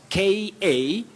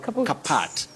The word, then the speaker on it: kaput: We say kaput, kaput. The car is kaput, not kapat, kaput. It's an informal word and a bit tricky. Don't say kapat.